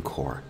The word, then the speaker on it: corps: navy is the marine corps core is a french word so we do not pronounce the p or the s here the marine corps is amphibious meaning it